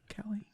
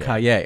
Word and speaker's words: Calle: So you actually mentioned, is it Sasha Kelly? Sasha Calle. Kaye. Okay, I was putting the emphasis on the wrong one.